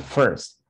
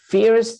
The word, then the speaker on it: first: and the pronunciation is first some people say fierce but it's not the fierce it's the first that's the pronunciation first